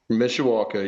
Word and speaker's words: Mishawaka: And you're in Mishawaka. Is that the right town? Mishawaka, yep. Okay. And did you grow up in Mishawaka?